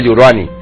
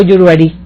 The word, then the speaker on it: Yuruari: digo bien porque los los británicos hablan de yuruani porque no pueden pronunciar el acento el acento en el año de 1858 fíjate yuran o yuruari o yuruari Ajá correcto